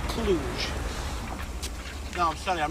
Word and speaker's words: Cluj: Actually pronounced Cluj.